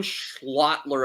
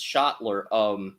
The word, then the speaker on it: Schottler: And Blas Schlotler, Owen Schlotler of the Spokane Chiefs is the guy Ash recommended. Spokane Chiefs defenseman Owen Schlotler. That's going to be a hard name to pronounce. Owen Schottler. It's Schottler.